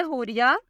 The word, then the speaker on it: Hooria: नाम है हुरिया। स्पेलिंग है HOORIA।